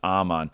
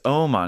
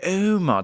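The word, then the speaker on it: Åhman: D Aman it's so funny cuz the American pronunciation of Aman is obviously just Aman but a lot of listeners like it's Oman it's like okay it's Oman they're like no it's Oman I'm like okay Oman so now I'm gonna go David Oman for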